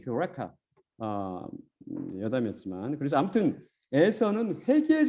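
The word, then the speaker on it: εὕρηκα: 그래서 원래 정확한 발음은 유레카가 아니고 휴레카입니다. 휴레카.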